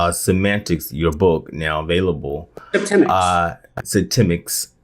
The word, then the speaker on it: Septemics: So I was saying in the intro that Semantics, your book now available, Septemics. I kind of remember how to say it by the month September.